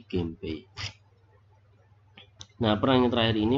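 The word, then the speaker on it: 源平: Jadi Genhei, tapi karena tidak enak diucapkan Genhei menjadi Genpei.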